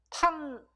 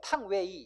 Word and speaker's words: 탕웨이: 중국 발음 유페이. 탕유 이러면 안 된다고. 탕웨이.